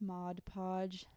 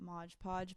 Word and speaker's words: Mod Podge: If you don't know my favorite thing, first of all, I know it's pronounced Mod Podge, not Modge Podge, but I I can't.